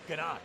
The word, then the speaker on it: ganache: Panache, chocolate panache. 5 years of French. Ganache. Guys only focused on desserts. It's ganache, not panache.